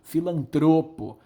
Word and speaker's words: filantropo: não é filantropo filantropo é filantropo filantropo é uma palavra paroxítona e não proparoxítona tá então é muito